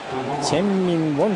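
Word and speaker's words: Chien-Ming Wang: 王健民、チェンミンウォンというふうに英語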